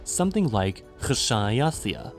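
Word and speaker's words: xšāyaθiya: He guessed that the word would have been pronounced KH-SHA-A-YA-TH-I-YA, a word relating to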